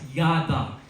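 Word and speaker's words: ידע: The word new in Hebrew means pronounced as yada.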